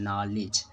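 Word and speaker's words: knowledge: जैसे नॉलेज वगैरह होता है तो नॉलेज में K साइलेंट हो जाता है, N से वहाँ पर शुरुआत होता है, नॉलेज।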